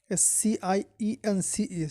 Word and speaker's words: science: foreign the scene from mammary silent c science s-c-i-e-n-c-e science or to begin some people think that